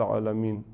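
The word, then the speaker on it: عالمين: Bueno, alhamdulillahi rabbil alamin, N al final de alamin, originalmente no se termina con nun llevando sukun, no, sino que originalmente es alamina.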